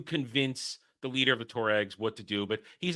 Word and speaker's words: Tuareg: They get picked up by how do you pronounce it? To the Tamariks? The Tuaregs.